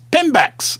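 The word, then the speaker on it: PIMBX: Pinex. I love to spell it.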